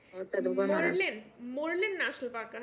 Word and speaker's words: Murlen: मर्लिन, मरलन। ठीक है। हाँ, तो इसको थोड़ा सा याद कर लेना, स्पेलिंग में वो ना हो जाए।